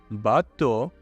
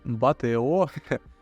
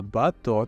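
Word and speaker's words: bateau: і зараз мото ото бато не батео а бато тому що ось ці три літери дають звук о депо Я думаю що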